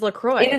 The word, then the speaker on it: LaCroix: creator of it said it is Lacroix look why it should rhyme with enjoy enjoy Lacroix so Wow tabernac while